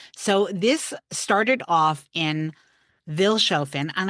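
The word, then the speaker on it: Vilshofen: So, this started off in Vilchaen and I know it's pronounced actually with like an F sound. So, like Philin, but I'm never going to pronounce it properly.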